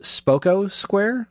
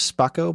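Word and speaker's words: Spocco Square: It's pronounced Spoko Square. I thought it was Spoko, but it's Spoko.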